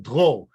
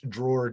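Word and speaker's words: Dror: to central Alberta, because my legal name is actually spelled D-R-O-R. And I'm not going to have anybody try and pronounce that, because they're all going to mess it up. But in my language, it's pronounced Drôle. Really cool name. In English, drawer just doesn't cut it.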